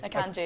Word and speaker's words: Akanji: Akanji. Akanji, yeah.